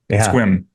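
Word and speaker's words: Sequim: Port Angeles the the rain shadow yes yeah squim squim yeah for all for all the folks in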